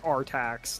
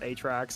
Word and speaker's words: Artax: It was, in fact, Artax, not Atrax.